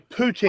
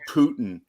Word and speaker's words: poutine: No, that's Poutine. Canada. Poutine, yeah. it's That's called Wisconsin. It's called poutine. Yes. Poutine or poutine? Poutine. Honestly, I've Poutine. heard it called Putin.